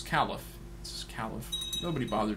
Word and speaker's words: caliph: so by the way I've been pronouncing in a very effective way it's it's Caliph this is Caliph nobody